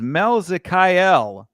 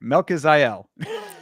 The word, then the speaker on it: Melkizael: Christian Rodriguez versus Melzikael Costa. I said it right. I'm proud of myself. I'm just going to tell you. No, I didn't say it right. Melkizael.